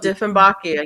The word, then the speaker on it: Dieffenbachia: Is that how you pronounce it? Oh, Dieffenbachia, yeah.